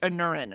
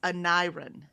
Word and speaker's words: Aneurin: It's spelled Aneurin. And I would have said like Anurin or something, right? But no, it's Aneurin. Aneurin.